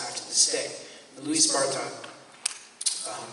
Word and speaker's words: Barthas: Louis Bartha, it's spelled Barthas, but I don't speak French, but it's pronounced Bartha.